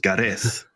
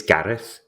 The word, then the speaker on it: Gareth: really should uh vocalize are we pronouncing your name correctly then is it GES no no it's it's Gareth oh G in a Welsh accent kind of Welsh accent there's there was um